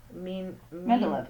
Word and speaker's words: Mendeleev: Mendeleev.